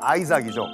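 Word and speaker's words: Isaac: 이삭, 영어 발음은 아이삭이죠.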